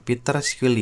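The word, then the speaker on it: Peter Scully: Ini Peter Skuli namanya Peter Skuly gitu bacanya dan No Limit Fund.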